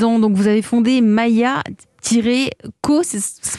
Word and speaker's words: Maïa-Ko: Vous avez 36 ans, donc vous avez fondé Maya-Co, ça se prononce comme ça? C'est ça, Mayako.